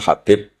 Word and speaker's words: Habib: Ada yang nulis Abi Abdurrahman Habib Asulami. Itu di harakatnya kitab itu ada yang nulis khubab. Tapi yang benar Oh, nggih. Yang benar itu bacanya Habib.